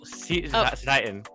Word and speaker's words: Cetitan: Probably you'll see, maybe, I'm not even going to try and pronounce that one ice Pokemon's name. Cetodile? Cetitan. Oh, Cetitan.